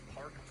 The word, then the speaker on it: Park: So, the British received pronunciation of park is actually relatively close.